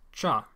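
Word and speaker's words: བྱ: So, bya in the old phonology is now pronounced cha in the word bird.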